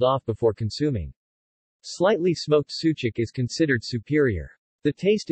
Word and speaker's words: sucuk: is made of beef sucuk pronounced Suja course ooh Jake with accent on the last syllable is a type of sausage made in Turkey and neighboring Balkan countries there are many types of sucuk but it is mostly